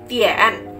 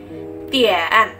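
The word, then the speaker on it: 点: Nah, kata pertama untuk jam dalam bahasa Mandarin adalah dian. Dian. Dian. D I A N. Kita bisa membacanya sebagai dian.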